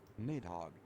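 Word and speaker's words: Nidhogg: Okay, let me just pronunciation. Okay, we're looking it up. Nidhog.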